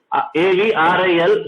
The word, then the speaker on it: avril: So R, A-V-R-I-L, so R will be KH. So the pronunciation will be Aqil.